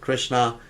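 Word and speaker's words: Kṛṣṇā: Arjuna is sometimes called Krishna, as is Draupadi. Draupadi is called Krishna, with a long A at the end.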